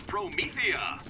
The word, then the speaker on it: Promethea: least you're not on Promethea. Promethea. Legend has it we'll get to see Promethea in Borderlands 3. Hello. Let me know if there's any Also, Tannis mispronounces it as Prometheus.